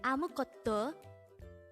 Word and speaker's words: 아무것도: syllable is got and fourth syllable is do pronounce it with me gotto the word amu kotto could be used to say anything or nothing